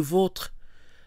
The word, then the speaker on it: vôtres: So O with the accent is pronounced O, les vôtres. Without the accent, O is more open, E, votre.